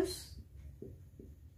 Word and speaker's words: whose: Whose. Kalau bacanya W-nya nggak usah dibaca.